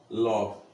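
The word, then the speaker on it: lough: এই উচ্চারণটা কি হবে? লক।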